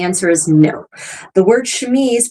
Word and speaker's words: chemise: The word chemise, pronounced like that, re-enters the English language, interestingly, in the 18th century.